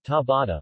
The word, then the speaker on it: Ciabatta: Ciabatta, Italian pronunciation, tabata, literally, slipper, is an Italian